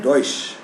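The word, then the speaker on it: Deutsch: है डच और ड डॉश की स्पेलिंग है डी ई यू टी सी H Germany की लैंग्वेज को डॉश कहा जाता है कभी कभी वैसे जर्मन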